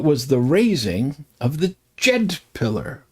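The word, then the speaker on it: Djed: For example, in ancient Egypt, tomorrow was the day that was the raising of the Jed pillar. The Jed pillar, DJ E D, more or less.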